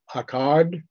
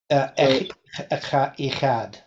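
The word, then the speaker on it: אחד: The old prophet would be, how do we pronounce this? Akkad? Echad.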